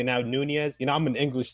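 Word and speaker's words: Núñez: go uh shout out to Liverpool I had Nunes on FIFA he's uh he scored two goals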